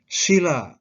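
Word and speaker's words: śila: yaitu Panca artinya lima sila dengan huruf F biasa bacanya pendek artinya membantu sedih alas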